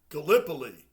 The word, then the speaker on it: Gallipoli: Gallipoli. That's how you say it.